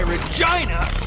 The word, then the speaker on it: Regina: That's why Regina rhymes with fun.